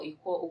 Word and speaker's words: Iquo: Please search for Ikwo. Ikwo is spelled IQUO, and then you can join us and leave your comments.